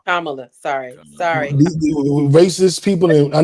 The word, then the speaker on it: Kamala: it's just because and let's let's say her name correctly kamla kamla sorry sorry racist people